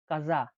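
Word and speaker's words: casa: সি কে চে বা কে হিসেবে উচ্চারণ করা হয় ইতালিয়ানে চে বা কে উদাহরণটা হচ্ছে চাও বা কাজা চাও বা কাজা মানে চেয়ে উচ্চারণ হলে চাও হয় দেখুন চাও চাও মানে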